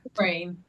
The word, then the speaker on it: Dufresne: She's been published in Sliver of Stone Literary Magazine, Tampa Bay Parenting, Macaroni Kids, and John Dufresne. How do you say that, Sarah? Dufresne. Dufresne. Dufresne. Okay, Yeah. totally butchered it.